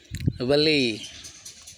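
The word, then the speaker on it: valet: आगे है वले, टी देखिए साइलेंट हो रहा है, वले, VALE, वले, जिसका हिंदी अर्थ होता है नौकर।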